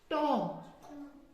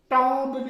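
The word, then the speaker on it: tomb: टॉम। टॉम्ब नहीं पढ़ते।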